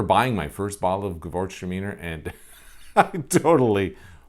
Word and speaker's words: Gewürztraminer: Looks nothing like the way you say it. So yeah, that's Gewürztraminer, another white wine out there that I remember buying my first bottle of Gewürztraminer, and I totally butchered